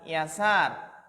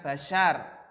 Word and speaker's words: Yasar: apa maka disana ya cara membacanya adalah yasar Ra Hai aba yasar Hai Muhammad bin bin yasar bukan Basyar Hai saat ini dengan